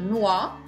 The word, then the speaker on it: noix: Ensuite, quand vous avez un X, une noix, vous gardez le X pour le pluriel des noix. Et le X n'est pas prononcé.